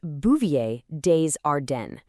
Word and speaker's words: Bouvier des Ardennes: And just so you know, it's pronounced Bouvier Dearden.